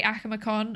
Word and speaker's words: Akumakon: Um but yeah, uh so I say Akamacon. I'm going to probably revert back to saying that and then probably